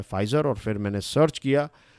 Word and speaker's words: Pfizer: कल मैं बोल रहा था Pfizer, लेकिन फिर आप में से एक स्टूडेंट ने कहा कि सर इसका प्रोनाउंसिएशन होता है फाइज़र, और फिर मैंने सर्च किया और फिर मुझे